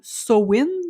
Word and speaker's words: Samhain: ancienne qui est Sameine qui se prononce en fait souvent comme Soin mais moi je le dis ça mine parce que je l'entends tout le temps comme ça mais en théorie paraît que c'est Soin et chez les peuples